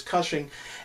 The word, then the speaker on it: Cushing: you say his name I thought thought it was crushing for some reason but it's Cushing and it's basically this